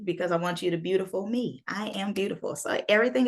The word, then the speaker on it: byoutiful.me: My website is called beautiful.me, and it's spelled BYOUTIFUL.me.